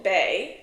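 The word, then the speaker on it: Baie: This will be called Vulcan Bay. Okay, it's spelled B A I E.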